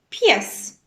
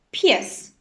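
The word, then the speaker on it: pies: вяра вяра дивіться тут і не читається не вимовляється взагалі небо небо тежні п'єс п'єс в вянек як ми бачимо буква і не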